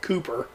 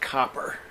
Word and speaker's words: Copper: So If I can correct you, Mike, it's pronounced Copper. He played the hound dog in the Disney. well, my eyes are bad now that you say that. Yeah, I see 1 O and 2 P, so it is Copper.